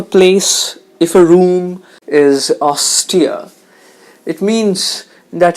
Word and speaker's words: austere: nothing more to explain austere is an adjective the stress is on the first syllable austere if we lead a